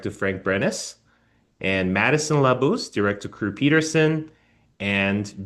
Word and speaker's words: Labus: Is it La Bus or La Bus? It's actually Labus. Labus.